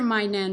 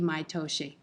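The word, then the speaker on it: 毎年: You do hear mainen, but it should be maitoshi.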